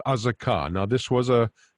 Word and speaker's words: Azekah: continuing in alphabetical order azaka is how we pronounce this city azekah in english uh now we're back